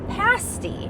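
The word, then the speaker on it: pasty: Well, in honor of Upper Michigan, we decided that for lunch, we needed to try a pasti. That is how it's pronounced.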